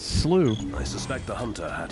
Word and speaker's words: Slough: here yeah alster slooh I didn't know how to pronounce that for the longest time I was like what is that Slough for slow but if you listen to the dialogue it's slooh I suspect the hunter